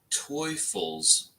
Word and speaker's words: Teufels: The beer is pronounced Teufels beer. Teufels beer? What the heck? Oh, that's a T. That makes sense. I thought it was an F.